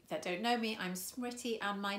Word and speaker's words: Smriti: If it helps, I always say that it rhymes with pretty and witty, also intelligent, beautiful, any other compliment you want to give, and if you remember that, you won't go wrong.